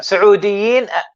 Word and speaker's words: سعوديين: Saudiyin والجورديين.